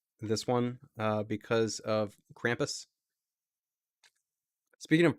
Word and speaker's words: Krampus: one uh because of krampus speaking of pronouncing names i had said like krumpus or something at some point someone made sure to point out that it's krampus which sounds awful to me thanks eyes wide